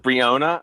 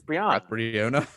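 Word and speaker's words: Breonna: what say her name it brionna no it's brianna i've heard brionna man i don't know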